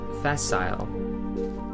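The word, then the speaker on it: facile: word that's spelled exactly the same except it's pronounced fasile fail in Latin actually means the same thing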